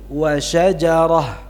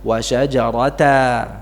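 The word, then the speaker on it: شجرة: T atau Ta marbwiun tanwinnya dihilangkan dan berhentinya dengan ha sukun wasajaratan dibaca berhenti wasajarah coba wasajaratan Ya kalau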